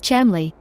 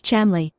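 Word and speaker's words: Cholmondeley: Charles Chumley and Euan Montugu. They used the idea with the corpse and improved it somewhat. Charles always said, "My name is Chamley," pronouncing it syllable by syllable. Charles Chamley.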